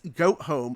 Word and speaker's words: Gotham: If I pronounce it differently, you might get the meaning, and then I'll say what it is. Gotham? It's goat home. It's goat town.